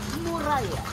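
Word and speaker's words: Muralla: pronunciation na Muraya. Mural yan. Hindi na Y, parang paella.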